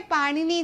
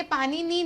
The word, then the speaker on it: पाणिनि: ये पाणिनि नहीं है ना, ये पाणिनि नहीं है, ये है पाणिनि। ठीक है, पाणिनि भी कह सकते हो या फिर पाणिनि भी कह सकते हो, अलग अलग तरीके से नाम जो है वो प्रोनाउंस किया जाता है, बस पाणिनि नहीं बोला जाता, पाणिनि या पाणिनि।